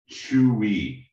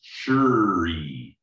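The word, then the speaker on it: 吹: And it's the sound we're gonna make for the kidneys is Chewie. Or if you want to pronounce it with a kind of northern, like Beijing style accent, it's churi. But it's gonna be like churi or chewy.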